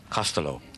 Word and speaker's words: Costello: grandmother's name who was Elizabeth Costello or as is correctly pronounced in Ireland Castello right right and recently